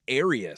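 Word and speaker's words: Airious: flag also Ace Bailey's real first name is arus spelled like a I like you know getting air so that's pretty great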